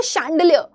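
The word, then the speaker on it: chandelier: आप क्या बोलते हो शंडलियर मैं जा रहा हूं शंडल्य लेने। ठीक है ना? लेकिन आप एक्चुअली में उसको लिखते हो चांडल्य लेकिन पढ़ते हो आप शांडलियर। तो वो च से स्पेलिंग आती है।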